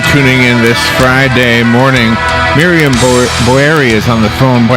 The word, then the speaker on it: Miriam Boeri: Miriam Boeri.